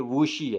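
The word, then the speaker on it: Wuxi: اور یہاں دوسرا ورڈ ہے ووزی نہیں ہے, یہ ووشی ہے, ووشی.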